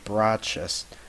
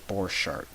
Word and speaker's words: Borchardt: from the future here anytime you hear me say brah chest I mean to say borchardt I just didn't know how to pronounce it woman recording the video